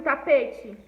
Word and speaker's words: tapete: sílaba gente coisa tapete ó como eu anúncio normalmente a palavra tapete e você oi gente ele um pouco mais de força para pronunciar essa palavra então p tapete ela é uma paroxítona porque a penúltima sílaba é mais forte tá bom então é